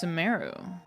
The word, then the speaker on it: Sumeru: Sumeru, our next objective should be to head to Sumeru City and find a way to Sumeru. meet with Lesser Lord Kusanali. Ah, it's Sumeru. I've been pronouncing it Speaking wrong.